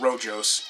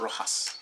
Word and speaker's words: Rojas: not completely mispronounce words it's not Rojo's it's a Rojas so we got a